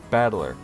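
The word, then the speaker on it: 戦人: is made up of the characters for fight and person is pronounced battler ah like a fighting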